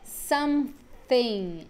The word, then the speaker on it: something: Lembrando que aqui, ó, nesse TH, a gente tem o TH desvozeado, né? Que é a linguinha no dente.